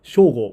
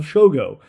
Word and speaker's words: Shogo: I do not call myself Shogo when I speak in English. I call myself Shogo.